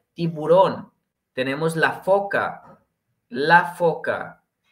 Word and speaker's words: tiburón: Recordemos acento en su última O, tiburón.